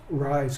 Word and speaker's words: Ryze: name of your company rise consulting rise consultants okay so right now with a z yeah well it's spelled r y z e z quite common